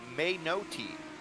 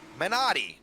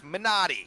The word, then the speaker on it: Menotti: just catching this that it's actually pronounced um a no teeth main OD we're getting on that actually no it's a nope it's a men Adi Menotti that's how you say that last name it's Menotti monatti I'm gonna write